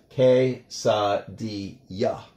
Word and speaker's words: quesadilla: The double L letter is pronounced like a Y in English, so that's why we have quesadilla.